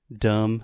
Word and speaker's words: dumb: from time to time dumb you are dumb dumb d-u-m-b we do not pronounce the b dum dum dum is